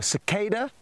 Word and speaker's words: cicada: can now see a cicada or cicada as it's more commonly pronounced in America interesting how we pronounce